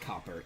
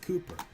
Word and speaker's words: Cooper: His name is not Copper, it is Cooper. Copper is spelled with 2 P's. What you see here is 2 O's and 1 P, so that is Cooper.